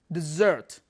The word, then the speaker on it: dessert: interesting vocabulary here dessert it it pronounced desert all right not desert desert like wahan desert all right this is